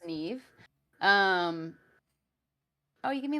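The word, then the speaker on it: Niamh: how it's pronounced so Neeve so it's a Celtic name so it's spelled like n i a MH but it's pronounced Neeve um oh you give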